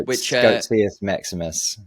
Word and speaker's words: Goatseus Maximus: And from that, it's sort of been tied to this meme coin, Goatseus Maximus. I think that's how you pronounce it. Yeah, Goatseus Maximus, which it manifested by tweeting about it until someone made a meme coin for it.